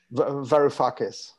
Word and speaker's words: Varoufakis: Can you pronounce it for us? Varoufakis. Okay, whatever, Varoufakis.